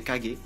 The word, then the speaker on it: Kage: Dirigés par un Kage, prononcé Kage, les villages, à travers